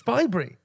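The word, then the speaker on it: Bibury: I think you've mispronounced Bybury. It's Bybury. Bybury? Yes, Bybury.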